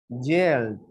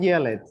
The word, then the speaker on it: yelled: Yelled, not yelled, yelled. Yelled. The pronunciation, yelled.